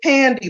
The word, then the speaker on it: Pandi: It's Pandi, like candy, rhymes with candy.